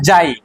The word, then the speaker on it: psi: है ये इसको बोलते हैं जाई, कोई साई भी बोलता है, स्पेलिंग होता है PSY, या तो कोई साई जाई दोनों चलता है।